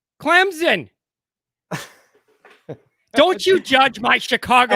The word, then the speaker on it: Clemson: there is you know there is no Z in Clemson Clemson how do you want me to say it say it say it like I say it say it Clemson Clemson don't you judge my